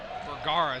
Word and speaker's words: Vergara: Vergara is how you say Lorenzo's last name.